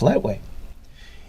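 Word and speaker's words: Lethwei: have kickboxing but here it is known as letway pronounced lightweight in many ways it is similar to the muay thai of neighboring thailand but letwe also allows the use of headbutts netway fighters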